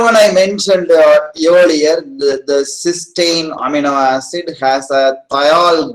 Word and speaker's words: cysteine: So this amino acid with the free thiol group is pronounced cysteine, and this disulfide form is pronounced as cysteine. Okay, Ti, cysteine, and this is cysteine.